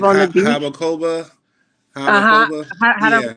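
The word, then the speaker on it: Jarabacoa: Habacoba? Uh-huh. Habacoba? Yeah. Harabacoa. I Mm-hmm. think yeah, the pronunciation for me always gets me.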